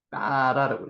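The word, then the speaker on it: ברא: 이것도 바라라고 읽기보다는 점이 하나 있기 때문에 여기 경강점입니다. 좀 된 소리를 내라는 거죠. 빠라라고 읽습니다.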